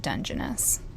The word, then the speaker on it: Dungeness: stayed here last night again tonight we're at Dungeness I think I'm saying that right nope that's wrong it's pronounced Dungeness thanks internet in Washington a bit West of